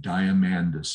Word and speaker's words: Diamandis: down it's run by a gentleman named peter diamandis and his name is spelled diamond and then a s on the end diamandis is how he pronounces it this guy is one of the